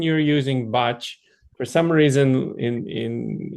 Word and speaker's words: Bach: I think for the pronunciation you're using botch for some reason in in it's always people have always said Bach, but actually you're correct. It is botch.